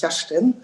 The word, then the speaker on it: Kerstin: And in case you're wondering how my name is pronounced, it's Kerstin, which is also a hard one.